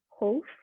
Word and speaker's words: Howth: little bit outside and visit the coastal town Hove, if I pronounce it correctly.